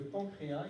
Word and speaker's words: pancréas: graisses, et puis le pancréas ici. Donc aussi attention ici à l'orthographe, bien qu'on prononce pancréas, ça finit par un S, on ne prononce pas le S.